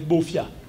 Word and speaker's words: Bafia: sommes aujourd'hui qu'on appelle Bafia mais Bafia c'est les Allemands qui demandent à quelqu'un comment tu t'appelles il dit je m'appelle bofia et l'allemand écrit Bafia donc le nom Bafia